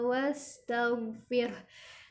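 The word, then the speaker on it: وَاسْتَغْفِرْ: Nah, di kata wastaghfir, go-nya jangan sampai memantul ya, karena go ini bukan huruf yang ketika sukun dipantulkan. Cara membacanya, keluarkan huruf go-nya dari tenggorokan bagian atas. Wastaghfir. Jadi insya Allah ketika membaca go di tenggorokan bagian atas sudah keluar dari tenggorokan, maka tidak akan terdengar pantulan.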